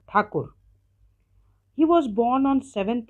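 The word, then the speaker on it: ঠাকুর: the author rabindra tagor in Bengali it is pronounced as rabindra takur he was born on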